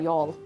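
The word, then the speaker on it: Youghal: Um, you'll lose your mind when you see how it's spelled. That's how you spell y'all. Y O U G H A L.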